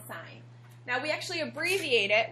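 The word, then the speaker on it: sine: are three of them the first one is called sign but it's not spelled s i g n like you would think a sign is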